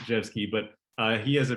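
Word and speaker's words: Rzewski: wrote it out because it's not pronounced the way that you might think but it's pronounced jet ski but uh he has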